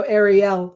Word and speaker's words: Ariel: So, I'm pretty sure it rhymes with yell because I think Oh, no, Ariel rhymes with yell. Um, cuz I interviewed her and she was like, our names rhyme.